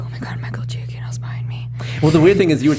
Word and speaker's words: Giacchino: So, Sarah's favorite composer, Michael, how do you pronounce his last name? Giacchino.